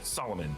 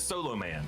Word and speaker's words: Solomon: Now Shazam Billy doesn't know how to pronounce Solomon. He says Solo Man.